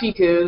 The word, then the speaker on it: Siku: Yeah, it's pronounced Siku. It's spelled S-I-K-U, but there's no H.